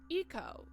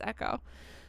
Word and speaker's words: Eco: Eco, Patrick says. Oh, it's pronounced Eco. Why the fuck did I read it as Echo? Doesn't even make any sense because that's not how Echo's spelled.